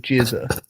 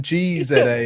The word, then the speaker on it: GZA: look like he's called jizer like RZ RZ a is pronounced rizer and then G Za is like no no it's just GZA like come on mate